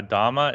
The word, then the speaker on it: dhamma: difference uh okay yeah dhamma is the Pali uh the Pali pronunciation of it and Nepali spelling and Dharma is the Sanskrit oh okay yeah so